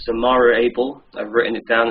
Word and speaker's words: Zamario Able: Oh, it's Zamario Able. I've written it down. It's spelled Z-A-M-A-R-I-O-A-B-L-E.